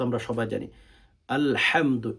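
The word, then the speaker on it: الحمد: আলহামদু এখানে ভেতর থেকে হচ্ছে উচ্চারণ করতে হয় আলহামদু লিল্লাহি আলহা আলহামদু এটার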